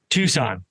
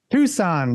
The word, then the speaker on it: Tucson: Dylan, today we are chatting with Patrick Foley from Cream Design and Print, located in Tucson, Arizona. Is that how you pronounce that? It's Tucson. Tucson, yeah.